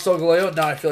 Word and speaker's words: Solgaleo: And then I watched the anime and it's Solgaleo.